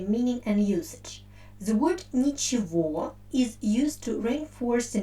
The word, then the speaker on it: ничего: in their pronunciation so the word which we write with letter e i pronounce like nichiwa and the accent falls on the ending or and uh the